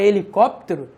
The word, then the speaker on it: helicóptero: são difíceis de perceber quando você fala a palavra hélio você fala a palavra helicóptero você não lota o som do hiv justamente porque a letra h não representa som nenhum beleza a letra h